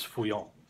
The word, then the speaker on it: Feuillants: So the French pronunciation of that is Feuillants.